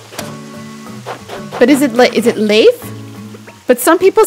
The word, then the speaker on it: Leif: Norwegian pronunciation is Leif. Yeah, I have a cousin. Okay. Yeah, that's what I'm thinking too. Leif. And then it's like some people say life. Leif Erikson is often said Leif.